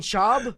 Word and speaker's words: Schaub: say it's not right Brennan shab yeah Brennan shab he is not Mexican did he say the